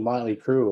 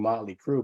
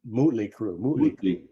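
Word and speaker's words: Mötley Crüe: chanting Motley Crue but they were saying mootly crew yeah there you go because that changes the sound of the L right right so there there was actually saying the name wrong because they would be saying it the way it's spelled right like so but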